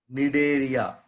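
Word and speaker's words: Cnidaria: One is Nidaria. Nidaria, C silent here. The first C silent here, we have to pronounce like Nidaria.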